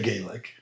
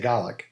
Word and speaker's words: Gaelic: Gaelic and Scotch Gaelic or as I should say GIC because they don't they don't say Gaelic. They say Gaik.